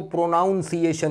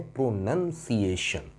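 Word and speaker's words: pronunciation: प्रोनाउंस का noun है प्रोनंसिएशन। 90% पढ़े लिखे लोग भी प्रोनाउंसिएशन कहते हैं, प्रोनाउंसिएशन इज no word at ऑल, the word is प्रोनंसिएशन, प्रोनंसिएशन, प्रोनंसिएशन, right.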